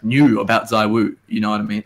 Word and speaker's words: ZywOo: and I was like, ZywOo. I'm like, oh, I get it. That makes total sense. Like how you would say that in French. Well, it's ZywOo.